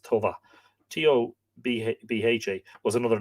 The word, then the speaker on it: Toba: Toba, T-O-B-A, which would probably be pronounced Tova.